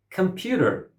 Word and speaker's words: computer: Computer. Computer. How many syllables does it have and where is the stress? Computer. The word has 3 syllables and stress is on the second syllable.